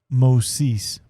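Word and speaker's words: Μωϋσῆς: When you see this, it's called a diaeresis, these two dots, it's telling you that you're pronouncing each individual vowel and you're not combining them. So this is Moses.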